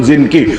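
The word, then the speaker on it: Zengi: বাংলায় বলে জঙ্গি। আসলে উচ্চারণ জিনকি।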